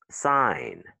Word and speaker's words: sign: Sign, the G is silent.